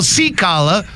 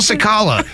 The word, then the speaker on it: Sakala: the sports guys C kala with sports like that's not how you pronounce your name it's sakala you don't go see kala but you sound like